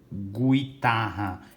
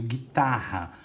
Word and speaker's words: guitarra: Eu não ouço o som do U, ó. Não falo gu. guitarra. Eu ouço e falo, pronuncio guitarra.